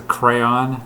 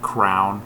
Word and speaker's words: crayon: in other places um next word is crayon there were some kids in my uh school as I was growing up who pronounced it Crown actually there was one kid and I thought he was a loser cuz he said Crown going to get out my